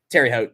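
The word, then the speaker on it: Terre Haute: Terry Hot Regional. I kept Terre seeing Haute. that like popping. Terry Haute.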